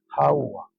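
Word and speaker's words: חוה: Ese es el nombre según en el hebreo original de Eva, Hawaa.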